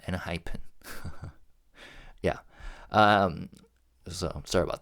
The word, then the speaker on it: ENHYPEN: And that's exactly why I uh kept mispronouncing their name like Nyphen instead of NHEN.